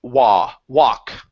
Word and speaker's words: walk: Instead of wool, take out the L.